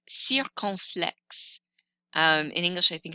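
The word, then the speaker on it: circonflexe: party hat and its actual name is the sir conflicts sir conflicts in english i think it's a circumflex it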